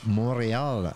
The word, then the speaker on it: Montréal: Or how do you say it in French? Montréal. That's with the Canadian accent.